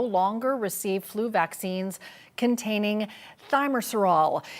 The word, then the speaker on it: thimerosal: Thanks for being on the show, and we'll have to get the correct pronunciation from the expert, from the doctor here. Thimerosal, Cheryl. Thimerosal, okay, good to know.